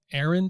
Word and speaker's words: Arend: and by the way how do is it Aaron how do you pronounce your your last name aand yeah okay I was joking with the guys